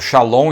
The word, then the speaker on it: Shalom: testamento a palavra paz aí está no hebraico Shalom e a transliteração para você saber pronunciar em português Shalom Todos sabem não é